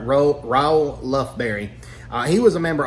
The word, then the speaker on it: Raoul Lufberry: Let me pronounce it right. Ro Lberry.